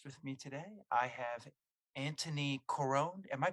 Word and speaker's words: Antoni Corone: have a guest with me today I have Anthony Caron am I pronouncing that correctly you are ding ding ding